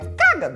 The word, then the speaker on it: cágado: Que se ela tivesse lido o acento, ela falaria, ah, essa é a sílaba tônica, é cagado, entendeu? Porque quando tem um acento, você faz, ah, ou, viu o acento, você dá uma gritadinha. Tu é cagado.